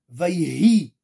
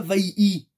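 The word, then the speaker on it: ויהי: Hei, ken, Vayi, Vayhi, Vayhi, Or. On ne dit pas vaï-i, or, vaï-hi, or, et la lumière fut, d'accord?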